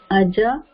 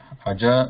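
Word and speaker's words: अज: So these should be read as what she pronounced, like Aja, Gaja, Hara, Kara. So they should not be pronounced like Har or Kar or Gaj or Aj.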